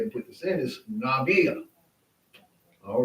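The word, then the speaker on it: נביא: In this situation, the aleph is silent.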